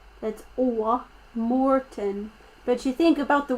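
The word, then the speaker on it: Mårten: song let's go okay it's pronounced morton m-o-r-t-o-n but it's spelled m a with a circle on it which is a swedish letter that's morten but you think about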